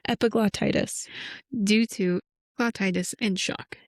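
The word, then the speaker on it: epiglottitis: word cuz I know you're not going to pronounce it right. epiglotitis due to glauitis and shock.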